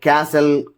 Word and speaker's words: castle: The letter T is not pronounced in the following common English words like castle, Christmas, fasten, listen, often,